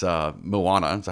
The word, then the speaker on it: Moana: actually never watched uh but it's it's uh Moana is that how you say it Moana yes I'm so eager about this I've seen